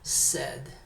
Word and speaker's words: said: La i no se pronuncia said. Igual como que yo digo tengo sed, pero pónganle un poquito de sonido gringo.